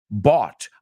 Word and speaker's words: bought: So la palabra bought y drought tienen la misma terminación. I bought something after the drought. What? Come on, English. Who made those decisions that we should pronounce different endings differently?